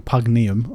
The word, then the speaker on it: Pugneum: Pugnum, platinum, and metal plating there, or pugnium, I think it's actually pronounced.